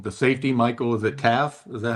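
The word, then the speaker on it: Taaffe: It looks like it's Taff. All right. T AF is is the pronunciation. Safety Michael Taff.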